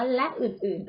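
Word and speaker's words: ฯลฯ: ทั้ง สอง แบบ เลย ถ้า เรา เกิด ขึ้น หมาย นี้ แล้ว จะ อ่าน ละ ก็ ได้ อ่าน ว่า และ อื่น ๆ ก็ ได้ ต่อ ไป ตะหลิว ง่อ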